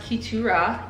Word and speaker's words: Keturah: I just say Keturah, but it is pronounced Keturah.